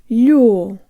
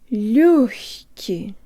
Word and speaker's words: лёгкий: Just make sure your tongue is high before you start pronouncing the g or the ha sound in lёгкий. Jaw tongue lips. Лёгкий. Лёгкий.